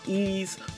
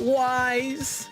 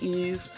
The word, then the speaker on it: Ys: And I I first I got to say my favorite game of all time is Ease Book one and two for the Turbo Graphics. Not Wise, but Ease is pronounced Ease.